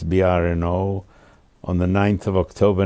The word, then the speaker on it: Brno: of moravia of czechoslovakia in german it's called bryn b-r-u-double n in check it's brno on the 9th of october 1928.